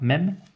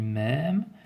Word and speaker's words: même: Autre exemple, par exemple pour le mot même, je ne dis pas même, je dis même, je traîne bien, je marque une prononciation longue ici sur le E ouvert, par conséquent je ne